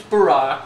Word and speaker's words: Barack: just look at it your first name's Barack which rhymes with a rock your middle name's the